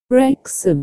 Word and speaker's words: Wrexham: Wrexham. Because of the way it's spelled, a lot of people don't know how to pronounce it.